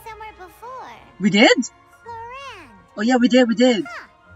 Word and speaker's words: Clorinde: That's how we say her name, Clorinde. I'm excited to meet her. Raiden Shogun, Kujosara, fusion character looking. Well, that's Childe for ya. Paimon feels like we heard that name somewhere before. We did? Clorinde.